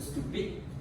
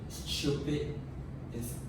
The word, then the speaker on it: stupid: So focus on the word stupid, which is British pronounce it with stupid, while American will actually just pronounce it as stupid.